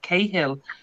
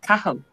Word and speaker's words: Cahill: People call it, say, Cahill, and it's not. It's pronounced Cahill. So.